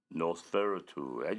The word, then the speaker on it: Nosferatu: It's Nosferatu.